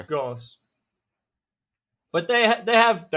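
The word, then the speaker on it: Gauss: and inbuilt G blasters now G bles I can remember how to pronounce but yeah it's Goss but they they have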